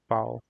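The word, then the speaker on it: Vau: V is pronounced as Pow.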